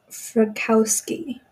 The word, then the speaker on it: Frykowski: Frykowski.